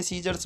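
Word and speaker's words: scissors: सी silent रहता है एस के बाद सी साइलेंट रहता है हमेशा जैसे कि सीन में सीजर्स में फेसिनेट में डिसेंड में क्रीसेंट में सी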